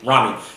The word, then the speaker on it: Rami: Rami.